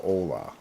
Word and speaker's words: Hola: That's not how you spell Ola. There's an H in front of it, you know. You gringo. You're a gringo, Legends Fall. You're a silly gringo. It's actually spelled Hola. But the H is silent, like your mom's face.